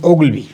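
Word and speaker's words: Ogilvy: El padre de la publicidad moderna se llama, se llamó, ya falleció David Oglby, así es como se pronuncia, se escribe David Hilby.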